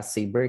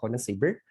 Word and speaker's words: Sabre: the certification under saber so it pronounced for a saber not sabre and also i have